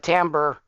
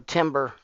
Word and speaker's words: timbre: to like i said pitch and timbre um or timber however you want to pronounce it um it's for the